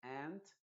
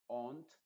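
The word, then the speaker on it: aunt: Es decir, la primera se va a decir ant, aunque por ejemplo, en Inglaterra le dicen ont, una cosa así, pero en Estados Unidos se dice ant y luego abajo reírse se dice laugh.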